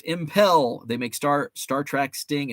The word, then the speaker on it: Impel: It's pronounced Impel.